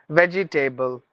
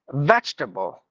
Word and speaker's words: vegetable: the words like a sometimes we say comfort table veggie table notable no not table it's tble like comfortable vegetable notable suitable editable quotable